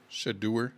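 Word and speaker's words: Shedeur: I'm pronouncing it wrong because of you. Oh, it's S H O D E A R. Shaduer Sanders. There you go. Shader Sanders.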